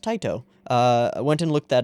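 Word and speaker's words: Tite: is Taito Cobo which I didn't know was pronounced tight oh I went and looked that up because I wasn't sure I thought it was tea day or teitei but it's not it's it's pronounced tight oh and if you don't know who that is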